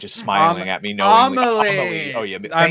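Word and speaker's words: Amélie: It's like Amelia, where I'm not watching it just because that bitch is smiling at me knowingly. Amelie.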